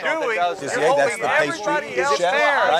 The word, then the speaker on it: pâtissier: pâtissier, how do you pronounce Here's that? what Pâtissier? you're doing. Pâtissier, that's the pastry else chef, there right?